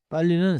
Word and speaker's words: 빨리: 빨리는 쓰인 대로 리을 두 개가 이어져서 리을 리을 분명히 말해요.